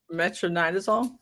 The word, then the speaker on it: metronidazole: How do you pronounce that? That Beast Morphs just said? Metronidazole?